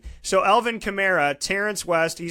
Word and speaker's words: Kamara: a video on this there's chimera and chimera and apparently it's chimera so we finally learned he said say it like a Camaro but put an A at the end so Alvin Kamara Terrance west he says